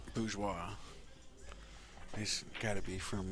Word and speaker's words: Bourgeois: He playing And Joey, I believe it's pronounced Bourgeois. Bourgeois.